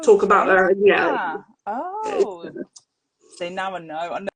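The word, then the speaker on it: Gena: It's Jenna Rollins, Oh, is not it? Gina. Yeah. See, it wouldn't be a chat if I didn't pronounce the names wrong. It seems to be Jenna.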